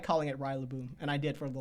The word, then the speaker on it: Rillaboom: The one that I got butchered the most on was Rillaboom. I called it Rillaboom for the longest time because I just like Rillaboom. Rillaboom, yeah. I know, it's Rillaboom now.